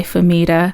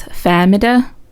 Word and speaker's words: Fahmida: I go by Famida. That's what I'm used to. Okay. The correct pronunciation apparently of my name is Famida, which I don't like as much.